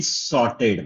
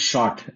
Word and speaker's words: sort: the end user in sorted manner. Sort sort and short different pronunciation matters.